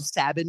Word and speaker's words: Sabin: he did that too I'm also glad you call him sabbin too cuz I've heard that name pronounced six different ways and uh you are the only other person who says Sabin oh dude that that